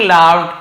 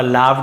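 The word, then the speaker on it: laugh: करते हो the king लाफ and dismiss the sages warning राजा हंसे लाफ का लाफ हो गया इस लगड नहीं पढ़ेंगे लाफ फ उच्चारण होता लाफ राजा हंसे डिसमिस्ड डिस्मिस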